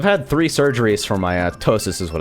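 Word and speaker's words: ptosis: three surgeries for my tosis is what it's called PT o s i s the p is silent because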